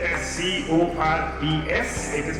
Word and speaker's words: Corps: Though it is spelled as C-O-R-P-S, it is pronounced as Corps.